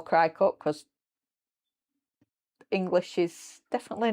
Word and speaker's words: Cricut: That's why I call it Crycut, not Cricket.